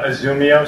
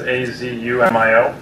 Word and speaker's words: Azumio: Zoomio Stress Doctor. Do you spell that? Azumio is the company, so it's Azumio, and then Stress Doctor.